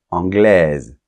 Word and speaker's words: anglaise: espagnol espagnol Royaume-Uni anglais anglaise tu vois la différence anglais on ne prononce pas la lettre S finale anglaise on va prononcer la lettre S et le E est